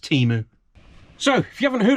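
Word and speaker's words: Temu: It's pronounced Teemu.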